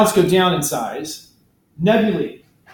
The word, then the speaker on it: nebulae: Nebulae. A-E is pronounced E.